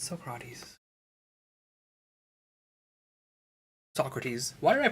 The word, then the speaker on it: Socrates: Of course it's Socrates. Socrates. Why did I pronounce his name that way?